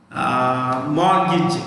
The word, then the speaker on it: mortgage: But I am not very mortgage. The T is silent.